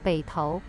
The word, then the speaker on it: Beitou: Bonjour Roméo, tu ne sais pas comment prononcer Beitou? C'est Beitou.